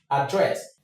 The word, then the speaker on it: address: So, let's take the word address. In the British English, the sound here is the short sound. So, everything is address address address address address. The stress is here. But, in the American English, the stress is on the first syllable, which is address, address, address.